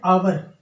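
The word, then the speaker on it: hour: तो यहाँ पर अगर देख सकते हैं आप एन आवर, वैसे इसको हावर नहीं पढ़ा जाता दोस्तों। आवर जो होता है इसको हम क्या पढ़ते हैं? आवर पढ़ते हैं।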